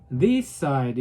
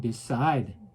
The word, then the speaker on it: decide: 결정한다 할 때 decide. 제가 이렇게 얘기하죠. decide 이렇게 안 하고 decide. forget 이렇게 뒤에다 제가 발음을 세게 하죠.